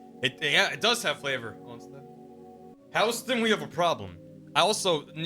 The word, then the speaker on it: Houston: Biggest thing is Barry was arrested because he pronounced Houston like the city instead of the street.